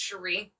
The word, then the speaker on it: Sherry: couldn't be here because it's actually spelled Sherry but it's pronounced Sheree. Okay. And this is a deep cut. Oh god. I know this sounds weird, Sheree, but it seems God